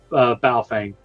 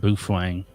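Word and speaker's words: Baofeng: literally like a $12 bow fang and I'm running on low power one watt and I can connect to the world with it. I think you mispronounced that. I think it's pronounced buffang.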